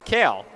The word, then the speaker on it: Kehl: Kell for the Eagles, spelled the same way as Bailey Kale, who spells her name Kehl on the last name. So same last name, different ways to pronounce it.